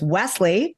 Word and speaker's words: Wesley: So while her, marriage may have did with Paul, I believe it's Wesley, not Weasley.